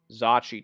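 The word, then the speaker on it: Zocchi: author refers to as Zachi dice. That is the proper pronunciation as I have come to understand it.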